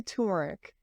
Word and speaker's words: turmeric: to workk spell it there's another R in there yeah it's ter no I say turmeric okay so you let